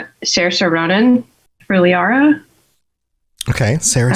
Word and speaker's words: Saoirse: Saoirse. Saoirse. Saoirse. I even looked up a video on YouTube how to pronounce her name properly, so I got her to say Saoirse Ronan.